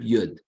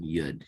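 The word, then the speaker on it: יוד: All of the letters are basically built on Yud. You can see the start of each stroke is Yud. Okay, this gives us a nice Y sound, as in yes.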